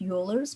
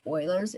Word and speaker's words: Euler's: looks like it's pronounced euler's but it's pronounced spoilers it's it's a german name it's named after a